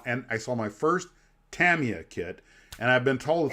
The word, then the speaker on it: Tamiya: say it like this because they don't inflect like we do like we say Tamiya or Tamia and she's like no I would just be Tammy uh you know there's